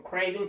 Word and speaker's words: craving: 나는 아이스크림 정말 먹고 싶다 할 때 I have a craving for ice cream 이렇게 표현합니다. craving for ice cream. 자, V 발음은요. V 발음은 순경은 V를 쓰면 됩니다. craving 이렇게 craving.